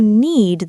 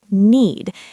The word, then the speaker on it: knead: You knead the dough. The k is silent. Need.